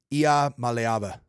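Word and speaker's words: Iamaleava: what I wanted to do it it's niiko malava try that wow Nikia malava malava you got it oh I butchered that it's just really hard to it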